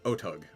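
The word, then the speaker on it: Otyugh: anybody know how to pronounce that i always pronounce it oh tug odig o-t-y-u-g-h let's see if i click on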